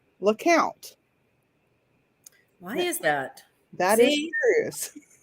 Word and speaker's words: Lecompte: that is why is the louisiana town that is spelled l-e-c-o-m-p-t-e which most people would think would be pronounced lecompte in fact it is not pronounced lecompte in in the town it is pronounced lakot why is that that is serious it is